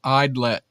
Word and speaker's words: Idlet: Pronounced Idlet.